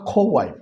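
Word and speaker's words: co-wife: সতীনের ইংরেজি হচ্ছে কোয়াইফ, খোয়াইফ, সঠিক উচ্চারণ হবে খোয়াইফ।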